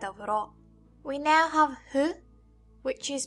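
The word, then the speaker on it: ふ: We now have Hu, which is pronounced like a combination of Fu and Hu.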